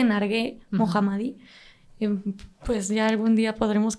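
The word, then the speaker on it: Narges Mohammadi: es que es Ay Cómo se pronuncia su nombre Ay no sé pero es nar mohammadi sí creo que es nar creo que se dice nargue mohammadi pues ya algún día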